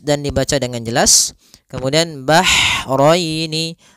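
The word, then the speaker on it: البحرين: dibaca dengan jelas kemudian bahraini Ha ini Hnya H kecil hati-hati jangan terbaca dengan ha besar jangan marjal bahraini ya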